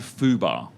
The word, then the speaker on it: fubar: with tedemi snafu and fubar ium Hoover so you thought Fubar was Hoover so they sound so differently but as I say that they sound identical Fubar and Hoover h-u-uh and here it